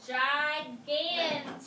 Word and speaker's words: gigantic: backwards good okay so we have gigantic so we have a soft G and a hard G hard G is oh good question Adam